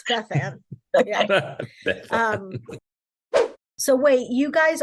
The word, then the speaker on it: Bethann: friend okay and do we do we pronounce it bethan or bethon or bethon that's a fancy way of say it no it's bethan um so wait you guys aren't married no